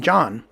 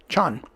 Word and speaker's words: Can: introduced himself as Captain John. I assumed his name was John, John. It's actually Can, as the Turkish pronounce it, Chan.